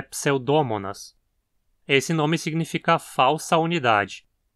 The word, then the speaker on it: Pseudomonas: Muita gente pronuncia o nome do gênero como Pseudomonas, mas esse mo tem um o curto, então a pronúncia adequada é Pseudomonas.